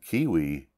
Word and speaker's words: kiwi: Take the New Zealand kiwi, whose name rhymes with peewee.